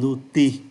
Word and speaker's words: outil: Và chúng ta để ý không phát âm ký tự L là c'est un outil de mon père.